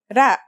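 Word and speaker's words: راء: Its closest English counterpart is the letter R, but it's a different sound that must be learned. Ra.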